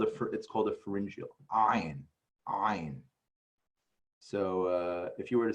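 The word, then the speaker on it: עין: So this is not a silent letter. It's not silent. It's actually that, you know, that tet that we made tat. We're actually that secondary sound, that is what an ayin is. It's ayin.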